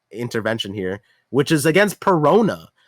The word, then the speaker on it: Perona: In a moment when Zoro said, "If we would have lost with without like intervention here," which is against Perona. Peronas, whose name rhymes with Nona, um tried to use